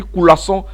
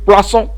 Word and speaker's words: coulasson: Alors certains, j'ai écrit coulasson, mais certains il prononce vite. Hein, et il parle vite, donc quelquefois, il faut comprendre, il dit poisson.